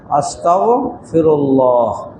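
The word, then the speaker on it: أستغفر الله: আস্তাগফিরুল্লাহ। খেয়াল রাখবো এখানে বাংলা উচ্চারণে ত আকারের পরে এখানে গস্তা আরবিতে আস্তাগফিরুল্লাহ আস্তাগফিরুল্লাহ।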